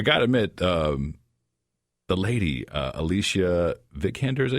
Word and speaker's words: Alicia Vikander: And I got to admit, the lady, Alicia Vikander, is that how you pronounce her name?